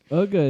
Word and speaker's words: Uga: at number nine uh ugga is not cool for me I thought it was just UGA they pronounce her UGA ugga okay usually in a